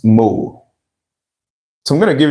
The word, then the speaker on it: mol: Meanwhile, take note the short form of mole is m o l still pronounced mole.